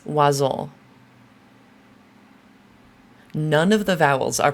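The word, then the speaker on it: oiseaux: And the way this word is pronounced is oiseau.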